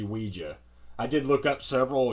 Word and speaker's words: Ouija: Now, there's actually a discrepancy and, conundrum and flimflammery about how to pronounce the name of this thing, but I believe, really, it's supposed to be Weejah.